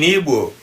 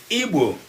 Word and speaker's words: Igbo: An erroneous pronunciation of Igbo people as Igbo. It is because these diagrams, the word Igbo has a diagraph, and non-Igbo people usually find it difficult to pronounce our diagraph.